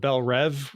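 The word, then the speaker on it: Belle Reve: It's been pronounced Bel Rev in every iteration of DC anything I've seen. But now they're going going forward they're like, "Oh, it's Bel Reev because that's how it's spelled and how it should be pronounced."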